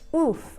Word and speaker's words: off: So I say it like this, off or often. However, they say it with an U sound. So they will say oof or oofen.